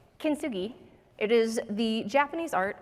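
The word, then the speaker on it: kintsugi: yes I also had to Google how to pronounce it it's kinsugi it is the Japanese art of repairing broken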